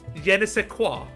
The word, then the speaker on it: Jena: single word I mean he studied in Germany Jena did I say it right about it yes